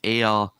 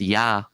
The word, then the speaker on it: Ea: Ea, Lord of the Earth. It was probably pronounced Ya.